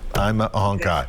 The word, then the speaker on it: Aimalohi Ahonkhai: infectious diseases over at vanderbilt university medical center i'm a hunkai i said it right i'm a hunkai so good to have you with us and